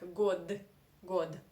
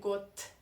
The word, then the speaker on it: год: this you should say got good according to russian pronunciation rules voiced consonants in the end of the russian sentence in the end of the russian word you should pronounce as non-voiced consonants so you do not